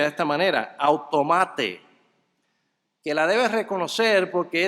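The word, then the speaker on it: αὐτομάτη: frase refleja la palabra griega griega que se pronuncia de esta manera autómata que la debes reconocer porque es de esa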